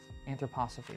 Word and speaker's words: anthroposophy: he created a school of thought called anthroposophic anthroposophy that's how you pronounce it um about basically uh if you've